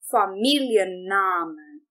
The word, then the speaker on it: Familienname: E por isso nós também vamos entonar duas diferentes sílabas nesta palavra. Então nós vamos dizer der Familienname. Der Familienname. Der Familienname. Outra questão aqui, nós literalmente vamos pronunciar todas as letras desta palavra. Os dois N's, inclusive, aqui também, porque